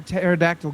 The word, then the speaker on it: pterodactyl: can't you hear a pterodactyl going to the bathroom not sure sorry cuz the p is silent we got it Paul